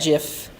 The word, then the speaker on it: GIF: So I'm going to put that GIF with a hard G on the page.